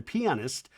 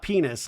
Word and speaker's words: pianist: The interesting thing about him though is obviously in 2003, he won for The Pianist, not penis, like a lot of people say, but I think that's how you pronounce pianist.